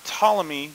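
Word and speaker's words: Ptolemy: achievements in astronomy now tmy the p is silent he believes in a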